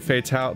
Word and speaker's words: Fatale: Fatale... The E is silent in Fatale.